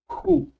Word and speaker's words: who: la palabra interrogativa who, que se pronuncia who, ¿ok? Con J, who.